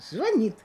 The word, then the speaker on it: звонит: Телефон был или на стене, как моя приятельница объясняла мне, как запомнить правильное ударение, звонит или звонит. Она говорит, сейчас я тебе скажу. Телефон у нас висит, телефон у нас звонит.